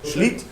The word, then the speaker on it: Schlitt: Correct pronunciation, Thomas? Yeah. Schlitt.